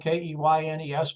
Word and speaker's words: Keynes: I know his name is spelled K-E-Y-N-E-S, but it's pronounced Keynes, just like candy cane with an S on the end of it.